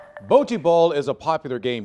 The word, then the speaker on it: bocce: Yes! It's bocce. Some of the Easterners, you know, you hear them say bocce, and I'm thinking that's because they say, you know, a car is a car.